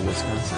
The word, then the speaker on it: Wisconsin: And we you don't need to drag out the A like that. She said that's just a bunch of bunk. And she said I guess some French still spell it oi Wisconsin. So Wisconsin.